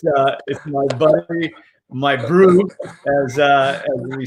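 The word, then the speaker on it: bru: Brew, which is obviously the South African version of bro. Yeah. We spell it B-R-U. Yeah, comes directly from the Afrikaans word broer, which is brother in English.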